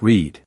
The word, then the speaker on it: read: When we talk about something that will happen, we return to the present pronunciation of the word. You might say, "Tomorrow I will read a new novel." And again, we pronounce it like read.